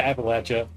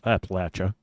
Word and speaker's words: Appalachia: on how you pronounce Appalachia, or you can just let me take care of it for you. Appalachia. It's Appalachia. Appalachia. If you're from there, you say Appalachia.